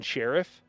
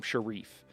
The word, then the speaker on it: Sharief: don't they keep calling they keep saying Stephen Sheriff and they don't seem to know that the guy pronounces his last name Share.